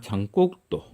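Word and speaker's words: Jean: 프랑스의 유명한 저술가 장곡도. 그렇죠? 프랑스식 발음 장, 영어로 얘기하면 이런 게 존인 거죠.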